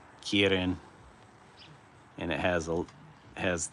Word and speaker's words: kirin: And it flies a keen k uh in in Japanese it's a kirin.